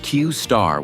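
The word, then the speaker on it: Q*: originally this model was known as Q asterisk pronounced qar within open AI this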